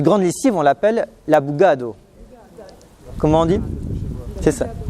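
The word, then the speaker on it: bugada: Cette grande lessive, on l'appelle la bugado. Comment on dit? C'est ça, la bugado. Ça s'écrit autrement, mais on le prononce bugado.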